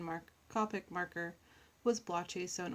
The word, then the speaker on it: Copic: and yes I realize I've been saying Copic instead of Copic for the pronunciation that habits die hard